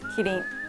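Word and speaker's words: キリン: Kitting.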